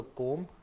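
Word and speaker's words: comb: from your जाएगा silent सीओएम बोलता हूं तो कॉम कॉम बनी होगा बालों के लिए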